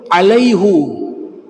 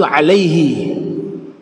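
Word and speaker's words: عليهِ: ayat 10 Allah sebutkan alaihu alaihu dalam ilmu bahasa Arab itu keliru yang benar itu Alaihi yaun setelahnya ketemu Dir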